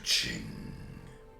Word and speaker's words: Qing: to pronounce anything else well I know how to pronounce Ching like an American right apparently that chess sound has multiple different forms but we don't need to get into that okay so we are